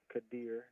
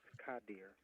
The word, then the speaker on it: Kadir: Hi, my name is Kadir Nelson. Don't really know what rhymes with Kadir. Maybe like Belvedere, but Kadir can also be pronounced Kadir.